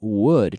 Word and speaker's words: would: I want to practice this sound, would, just like madera, would, would. But how do you say huevo in English? In English, well, sorry, how do you say, I just gave it away. I said it backwards. How do you say egg in Spanish? Huevo, huevo. So we have huevo, wuh, wuh. It's that same sound, wuh, wuh, wuh, would.